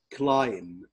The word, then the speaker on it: climb: بندي هنا جمل في الماضي باستخدام play, listen, watch, climb, climb, climb. ما بننطقش هنا حرف ال B.